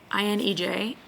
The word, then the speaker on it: Inej: No, I-N-E-J, Inej.